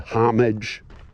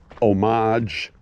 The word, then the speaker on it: homage: I like it pronounced homage. You know, it's got an H in it.